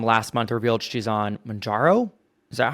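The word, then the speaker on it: Mounjaro: But her mom last month revealed she's on Manjaro. Is that how you say it? Yeah, And Manjaro.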